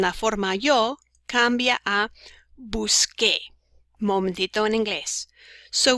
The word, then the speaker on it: busqué: Por ejemplo, buscar en la forma yo cambia a busqué. Momentito en inglés. So we change the C to a QU to give us the K sound, just like when we say ¿qué pasa?